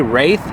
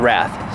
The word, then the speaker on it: Wrath: here goes the Wrath I keep want to say wraith cuz it's spelled like an in of a wraith but it's a wrath so we're going to